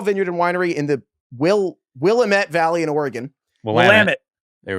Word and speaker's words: Willamette: He owns and operates a small vineyard and winery in the Willamette Valley in Oregon.